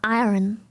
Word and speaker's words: iron: I I I keep saying iron. Iron. It's uh I think it's pronounced I think iron. Iron. You don't really do the R.